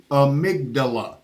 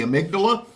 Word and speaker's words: Amygdala: say it one more time it is the amydala you see it there we couldn't pronounce it for at the